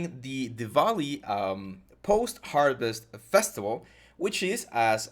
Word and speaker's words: Diwali: The correct pronunciation is Diwali. I know that we have the W, but you should pronounce it Diwali.